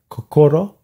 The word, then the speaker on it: kokoro: I called some Japanese cultural organizations, and they said kokoro.